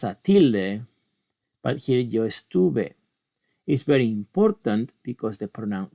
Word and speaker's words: estuve: tilde, but here yo estuve is very important because the how we pronounce the verb changes. Yo hablé is strong. Yo estuve, it is not.